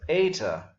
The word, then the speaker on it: eta: This is the long E sound, as in our English obey, A. So eta, then theta.